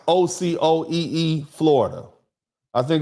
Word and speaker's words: Ocoee: The name is pronounced Ocoee, Florida.